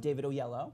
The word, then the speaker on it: Oyelowo: David Oyelowo.